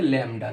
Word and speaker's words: ল্যামডা: এই যে এরকম করে বাঁকিয়ে এরকম করলাম, এর উচ্চারণটা হচ্ছে ল্যামডা। এরকম হলো আঁকা। এটা গ্রিক একটা অক্ষর, ছোট হাতের অক্ষর, ল্যামডা দিয়ে প্রকাশ করা হচ্ছে।